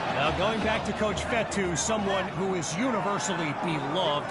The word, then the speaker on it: Fetu: So, Coach Fetu spelled F E TU for the longest time. I was pronouncing in coach Feta like feta cheese.